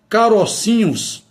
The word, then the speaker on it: carocinhos: Vejamos também os diminutivos mantém a vogal aberta. Caroço tem som fechado. Carocinhos forma certa.